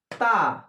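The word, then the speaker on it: ت: তয়াকার তা। তা উচ্চারণ হবে, দাঁতের মাড়ির ওপর মাড়ির সঙ্গে লাগিয়ে এইভাবে তা।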